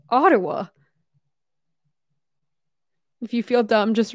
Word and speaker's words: Ottawa: I forgive myself because I saw American News Network pronounce my city completely wrong. It was like Ottawa. The capital of Canada, Ottawa. I was like, excuse me. It's Ottawa.